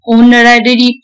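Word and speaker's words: honorary: ऑनरेबल person, honest man, ऑनररी post, ये सब होता है क्योंकि यहाँ पे हर जगह आपका एच साइलेंट रहेगा और एच जो साइलेंट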